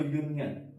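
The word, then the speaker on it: union: तो यूनियन। य से स्टार्ट हो रहा है हमारा इसका उच्चारण।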